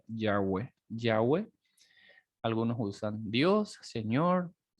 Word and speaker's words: Yahweh: Entonces, algunos teólogos lo consideran como la pronunciación más aproximada sería Yahweh.